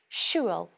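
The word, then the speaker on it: siubhal: or travel is that the l sound at the end of the word schwels changes depending on its use by itself ends with a broad l schuel but when it's in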